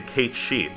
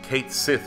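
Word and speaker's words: Cait Sith: Special mention to Kate Sheath, or Kate Sith if you prefer. Doesn't matter how you pronounce it, because of Reeve.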